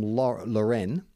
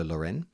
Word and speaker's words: Loren: This next one is titled Wholesome Bin Content, and it's from Loren. She specified it's pronounced like Sophia Loren or Ralph Loren. Hello, Loren.